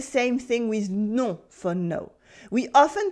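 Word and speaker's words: non: thing with no for no we often pronounce it as no no with a slightly different nasal sound can you hear the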